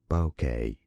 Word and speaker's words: bokeh: Bokeh. In English, it is generally pronounced as bokeh.